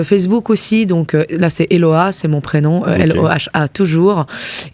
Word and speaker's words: Eloha: J'ai une page Facebook aussi, donc là c'est Eloa, c'est mon prénom, L-O-H-A toujours. Et puis j'ai un TikTok aussi, mais il est pas très actif. Mais vous pouvez me trouver aussi, c'est Eloa Music.